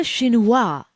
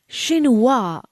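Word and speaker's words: chinois: This friends is a shininoa. It's a conical seieve with an extremely fine mesh. Did you get the pronunciation right? No, don't worry. Let's say it again. Shininoa.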